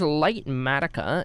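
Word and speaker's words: Litematica: This is light matica. It's spelled L I T E M A T I C A.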